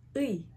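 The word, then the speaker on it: 의: Ui.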